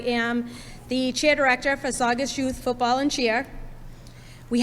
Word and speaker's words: Saugus: We have heard everything, Saugus to Sawgas Sackums.